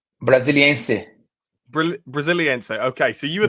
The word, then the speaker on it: Brasiliense: Well, I can't quite pronounce the club. Could you say it again? Brasiliana? Brasiliense.